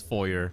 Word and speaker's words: foyer: I know what I I know how it's pronounced. I am not crazy. It is foyer. Foyer is just if you want to be it's if you're either French, Canadian or fancy, but it's foyer.